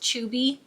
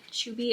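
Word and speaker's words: Chuuby: fun this one is I think it's pronounced chuie um it's c h u u b y chuby and this is little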